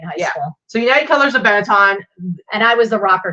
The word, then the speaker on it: Benetton: And this is a United Colors of, how do you pronounce it? Benetton.